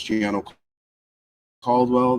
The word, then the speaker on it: Giano Caldwell: My name is Giano Caldwell. That is spelled G I A N O.